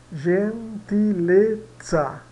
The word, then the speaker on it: gentilezza: No final, e, z, za, vai dar o tsa. Gentilezza, gen, aqui, né?